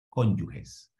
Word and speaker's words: cónyuge: Entonces no son esposos, son cónyuges. Y para que quede también claro, cónyuge se pronuncia como si fuera con J.